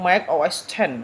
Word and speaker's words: Mac OS X: All of the recent versions are known as the Mac OS, pronounced Mac OS 10, right?